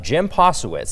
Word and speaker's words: Posewitz: Of course, we've got Norma Ashby-Smith and Harry Mitchell today, and we're here to talk about an interesting individual, Jim Posewitz.